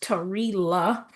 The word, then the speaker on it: Terila: My name is actually pronounced Tila.